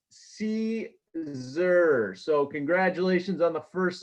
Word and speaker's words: Siser: Joe.......That Siser Guy....: But si se R is pronounced see zur so congratulations on the first lesson.